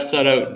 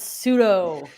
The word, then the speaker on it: Sutto: So Steph Sutto, Jennifer Sutto, I want to welcome you both to the show.